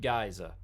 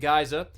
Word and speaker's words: Guise: I'm choosing to pronounce it Geysa, because the other way to pronounce that is not good. So we are pronouncing it Geysa.